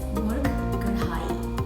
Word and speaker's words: murg karahi: The proper pronunciation is murg karahi without rolling the R.